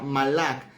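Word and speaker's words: מלאך: se dice o que se pronuncia malak malak es un vocablo que aparece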